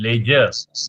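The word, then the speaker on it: ledger: लेजर, LED, इसमें D silent है, ये बड़ा चक्कर है, कोई वर्ड डी साइलेंट है। लेजर लेजर।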